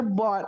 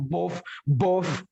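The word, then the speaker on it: bought: Nah, itu baru benar bot bacanya, bukan both.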